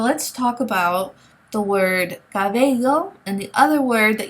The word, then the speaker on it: cabello: Now remember, this is a fricative sound, and all that means is that it's a very soft sound, okay? So did you pick up on the pronunciation of this letter in all these words? Cabello, caballo, bello, caballa. It's a very soft sound. It's not like the English letter B, as in boy, okay?